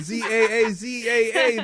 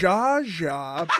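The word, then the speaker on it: Zsa Zsa: z z Alex said Za a a Za AA that is incorrect Jaja Brook it's spelled Zsa space Zsa oh the S is silent have you really never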